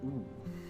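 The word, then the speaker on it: う: The U, this is U, or U. This is the equivalent of the vowel U in English. You pronounce this one as oo.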